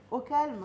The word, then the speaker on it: Au KLM: Donc, ton restaurant s'appelle Au Calme, au KLM. Au calme, oui. Au Calme, Au quoi. calme, mais au KLM Grill, Ouais. ça s'écrit comme ça.